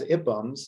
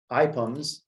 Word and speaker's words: IPUMS: what is iphams uh we pronounce it as it bums not ipums because it was initially